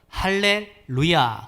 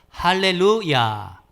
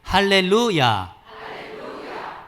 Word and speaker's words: 할렐루야: or 수도 있대요 그래서 할렐루야 할렐루야 한달에 볼까요 할렐루야 제가 하면 따라서 요 할렐루야 이렇게 발음하는 것이 히브리 문법적으로 도 적합하다는 것입니다 그래서 이 시편 106